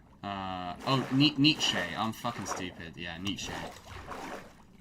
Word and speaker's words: Nietzsche: How the fuck do you pronounce Nezhersnitz? Nietzsche.